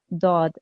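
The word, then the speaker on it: ضاد: that this actually here the highlighted letter is actually pronounced correctly in Arabic as daaad okay that's the letter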